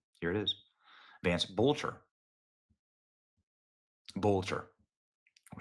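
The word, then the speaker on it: Boelter: Look at that, Vance Boatler. In case you're wondering if that's forged or fraudulent, here's the official documents of the Secretary of State of Minnesota. Here it is. Vance Bolcher. Bolcher.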